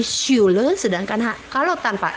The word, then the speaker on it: Schule: Jadi kalau ada S, C, dan H harus dibaca SY. Jadi Schule, sedangkan kalau tanpa S maka dibaca KH, jadi harus ich.